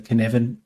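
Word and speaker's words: Cynefin: fave in in this space and that's the kinevin framework c y c-y-n-e-f-i-n hard to pronounce hard to remember but um it's guy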